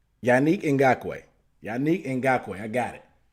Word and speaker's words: Yannick Ngakoue: How do you pronounce it? I'm going to his Wikipedia page. Okay. According to Wikipedia, it's Yannick Ngakoue. Yannick Ngakoue.